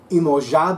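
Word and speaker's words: Iemanjá: Ever since I watched a movie called Woman on Top, I can only pronounce Yemaya's name the Brazilian Portuguese way, emoja.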